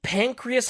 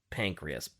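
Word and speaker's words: St Pancras: worked at the Saint pancreas hospital I think I think I'm saying that wrong I think it's supposed to be like saying pancreas but I can't help but say Saint pancreas anyway and according to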